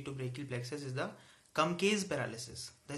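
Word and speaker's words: Klumpke: to the injury to brachial plexus is the come case paralysis the spelling says KL u MP ke posture of years but pronounced does come case paralysis and this is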